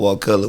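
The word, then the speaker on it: Wakulla: south of that in a a county called walcott which is even more country what color what color can you spell it for the folks that aren't familiar w-a-k-u-l-l-a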